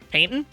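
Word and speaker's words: Paignton: how to pronounce that right Paddington you're dumy painton yeah is that how you pronounce it paintting yeah okay the painton zoo where's the [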